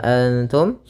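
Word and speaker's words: أنتم: Maka ini bacaan Ikhfa cara membacanya adalah samarkan nunnya kepada huruf ta bukan dengan dengung Ma bukan dengan ngg yaah akan tetapi dia samar ke ta langsung Anta dan padahal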